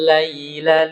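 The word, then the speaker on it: اللَّيْلَ: Cara bacanya mencondongkan suara i. Oh Lai. iya. Iya. Bukan huruf ya-nya. Iya. Jadi mencondongkan suara i. Nah, itu kita ulang-ulang ya. Lain. Jangan sampai kita laila, suara e.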